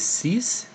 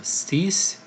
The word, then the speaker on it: six: to it we have the sink six is cease now it's kind of a false friend as it's not pronounced in English but it is spelled the same so cease almost how you pronounce that then we have